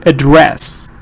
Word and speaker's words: address: you hear dress or do you hear a little schwa before dress and you say address yes good parts are